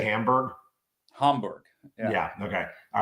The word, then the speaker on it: Hamburg: Hamburg.